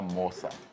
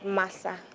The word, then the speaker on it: masa: So it's actually called masa. But I'm sure maybe pronunciation when it comes here and then it's but actually M-A-S-A, so it's masa.